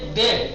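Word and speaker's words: ده: اس کے بعد ہے دہ، اس کا تلفظ صحیح سے کرنا، دہ، ویلا آپ زبر دے دیں گے تو ہو جائے گا دہ، تو گنتی ہو جائے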